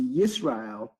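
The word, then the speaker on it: ישראל: the name Israel, or I guess in the Hebrew tongue would be pronounced Yisrael, is definitely idyllic.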